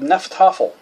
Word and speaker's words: Hnefatafl: Viking board game um it is called nephl I know it looks like it's spelled really weird because it starts with an H but it it's a